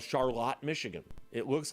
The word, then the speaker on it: Charlotte: And uh they're in a place called Charlotte, Michigan. It looks like Charlotte, but it's pronounced Charlotte.